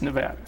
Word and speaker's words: Nevada: Although you and I and all of us who live here know that it's Nevada.